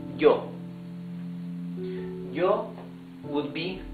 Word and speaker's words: yo: Then we have some Spanish-speaking countries pronounce the Y as sh. Some others, mostly, pronounce it like y. So let's better use y. So this would be yo.